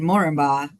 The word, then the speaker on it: Moranbah: Looking for people to work in Moranbah at the moment, and half of us don't even know how to pronounce it, let alone where it is.